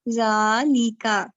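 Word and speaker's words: ذٰلِكَ: Note, zalika is pronounced as zalika, but it is written without alif.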